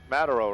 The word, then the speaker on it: Mataro: go mataro how do you say that mataro mataro right perfect right in here maybe we're heavy